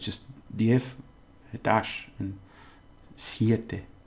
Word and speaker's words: siete: Two syllables. Siete. Okay?